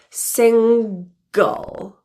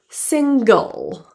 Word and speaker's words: single: middle of a word there is also a hard G pronunciation single go you're the world's